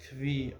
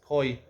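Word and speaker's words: כוי: I was always unsure how to pronounce this. Kvi or koi. It appears in the beginning of Zaz Kedushin. Here, the vowelization I have here in the Mishnah is koi.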